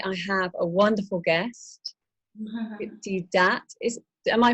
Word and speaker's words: Deepti Datt: Today I have a wonderful guest, Deepti Datt. Am I pronouncing it correctly? It's as good. It's Deepti Datt.